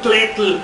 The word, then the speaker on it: tetl: Cómo se dice t bueno pronunciamos en español tetl suena muy too letl es con la con los laterales de la lengua no con la punta da su trabajo este